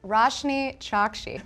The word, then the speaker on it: Roshani Chokshi: It's pronounced Roshani Chokshi. Okay, Roshani Chokshi.